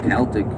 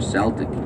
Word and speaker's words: Celtic: sometimes they get asked is it pronounced celtic or celtic you know the answer is actually about the both of them are correct just depends on the we're talking about context games we use the s sound so we've got